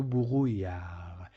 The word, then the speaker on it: brouillard: Il y a du brouillard. D is not pronounced at the end of the word, as you already know from the previous videos.